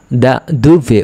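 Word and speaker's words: da dove: কোথা থেকে, আপনি কোথা থেকে এসেছেন যদি কেউ প্রশ্ন করে, তখন কোথা থেকে যখন প্রশ্ন করবে তখন কিন্তু ইতালিয়ানরা দা দুভে উচ্চারণ করবে।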